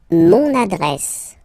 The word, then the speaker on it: mon adresse: Mon adresse, my address, mon adresse, okay, you can hear now this little link, so you get to pronounce this N, mon adresse, okay, and